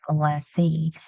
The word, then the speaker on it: molasses: Older generations will call it molassie.